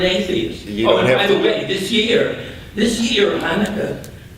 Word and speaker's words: Hanukkah: this year this year Hanukkah or you might pronounce it chanuka comes on Thanksgiving it's